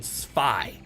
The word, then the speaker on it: Zwei: So B, it's pronounced Cyber Dragon Spy because it's German for 2.